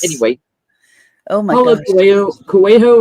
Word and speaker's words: Coelho: Anyway, oh my Paulo gosh, Coelho or Coelho, however, he's Portuguese, Brazilian actually. Brazilian, I think. Coelho, I think is how you pronounce it.